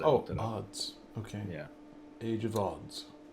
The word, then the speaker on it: Adz: the the age of ads you know it's like we heard the uh oh it's odds by the way it's pronounced odds oh odds okay yeah age of